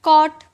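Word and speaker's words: caught: ट बट वैसे ही कॉट कॉट यह साइलेंट है डॉटर इसका साउंड नहीं आया डॉटर है ना तो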